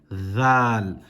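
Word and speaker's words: ذال: However, this one is pronounced dhal. Again, with your tongue touching the top of your with your tongue touching the upper teeth.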